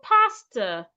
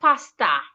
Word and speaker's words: pastor: Say pastor, not pasta.